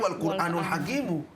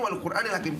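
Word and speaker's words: وَالْقُرْآنِ الْحَكِيمِ: Kalau wawunya wawu ibtida itu dibacanya wal Qur'anul Hakimu. Tetapi dibacanya wal Qur'anil Hakim.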